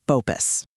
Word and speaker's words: BOPIS: 52% of shoppers plan to use BOPIS. BOPIS, right. Buy online, pick up in store. Exactly. Pronounced BOPUS.